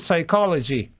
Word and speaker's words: psychology: universary here because she studied psychology we do not pronounce p I am going I